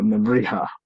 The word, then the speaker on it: Nebrija: I mean, I should remember that the ja in Spanish is pronounced uh, like el jefe, not jefe. So Nebrija, Nebrija.